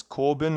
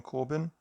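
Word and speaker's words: Corbijn: So this was done by Anton, I think it's Corbin is the pronunciation, Anton Corbin.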